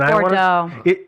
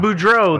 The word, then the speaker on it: Boudreaux: is it the Joe, help me with the pronunciation. Bordeaux. Is it Bordeaux? I think it's Boudreaux. Boudreaux, that's it.